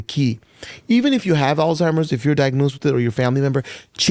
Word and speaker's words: Alzheimer's: They act as if you got Alzheimer's, and some people even called it old timers, right? Maybe people still mispronounce it, old timers. It is not old timers.